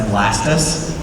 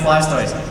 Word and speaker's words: Blastoise: a a voice actress, her husband is convinced that Blastoise's name should be pronounced Blastoise cuz you say tortoise, right? Blastoise. And so I was like, "No, man. It's Blastoise."